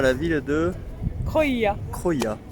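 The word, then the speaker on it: Krujë: Croia. S'écrit K-R-U-J-E.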